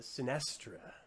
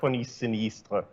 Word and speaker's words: Sinistra: I can't speak uh sinestra so megas Gilmore could you please tell us a little bit about this the correct pronunciation yeah s sinistra the title of course